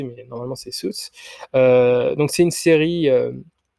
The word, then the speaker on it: Suits: Ensuite, il y a Suits, ou Suits, je sais pas comment vous prononcez, mais normalement c'est Suits.